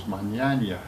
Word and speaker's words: Mignogna: And he doesn't pronounce his name correctly, but the name is Magnagna. It's like Ernest Borgnine.